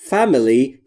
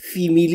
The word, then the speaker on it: family: در مورد تلفظ family دقت بکنید. Family. Family, فیمیلی یا هر چیز دیگری نیست.